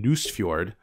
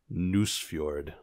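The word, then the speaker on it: Nusfjord: new ave rosenberg game news feud which is a delight to say and pronounce news fjord but it's about nordic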